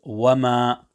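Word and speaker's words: وما: Similarly, there is al-maddul munfasil in verse number 2 on the word wama. Again, care needs to be taken to ensure that the lengthening of al-maddul munfasil is carried out consistently to 3 alifs.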